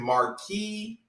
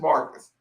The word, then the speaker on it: Marcus: pronunciation because i've been marquis i've been marquise i've been mark you know i've been all kind of everything but just marcus so do not hesitate